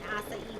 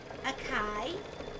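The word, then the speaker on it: açaí: an acai Bowl which when I first when my first daughter first said it I was like oh Akai you are in a kaibo if I didn't know how to say it but I love awesome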